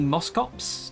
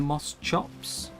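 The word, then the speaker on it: Moschops: Um, technically it is the Moscops, not the Moss chops, but that's never going to catch on, you know.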